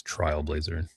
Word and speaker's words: Trailblazer: Of course, it's Trailblazer.